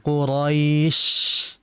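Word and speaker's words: قريش: di tengah tengah lidah jangan kita membacanya dengan kedua bibir Qurais bukan Hus tapi Qurais ya dengan menaikkan Tengah lidah beda antara Qurais dengan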